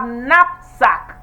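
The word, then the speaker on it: knapsack: fourth one we have napsack and not the the the letter K is not pronounced number five what we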